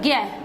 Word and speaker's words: ज्ञ: अब कि हम इसको ज्ञ ही बोलते हैं, जबकि प्राचीन संस्कृत जो पढ़ते हैं ना लोग, और जो संस्कृत के प्रकांड विद्वान हैं वो आज भी इसे जय ही बुलाते हैं, जय का ही उच्चारण करते हैं। आप इधर दक्षिण भारत की तरफ चले जाओ तो वहां पर भी इसको जय ही बोलते हैं, इसको जय प्लस ये नहीं, इसको ज्ञ नहीं बोलते, इसको जय ही बोलते हैं।